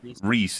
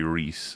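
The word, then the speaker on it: Rhys: it both ways so but Reese is definitively Reese. It's a Yes. John Reese Davies Gimly don't worry you will forget and you'll instinctually call him Rise and it's okay.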